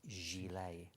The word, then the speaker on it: gilet: me out it said it's not pronounced gillet it's pronounced Gile the thing is I